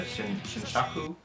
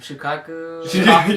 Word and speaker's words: Shukaku: You played as Naruto in the original Naruto and played up to until when Gaara became the Shinshaku. Is that how you say it? Shinshiki? Shinshaku? Shukaku. Yeah, Shukaku.